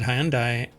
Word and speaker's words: Hyundai: actually in in America I've always said hyi but then people are like Hyundai now exactly even though you were doing it correctly it's like that's not the common pronunciation uh that is not